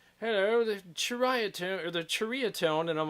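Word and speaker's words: Ceriatone: yeah, we said it wrong. Seriatone. Seriatone. Whenever we were saying seritone. Yeah. It's Cheritone. It's Cheritone. Cheritone. It's Malaysian.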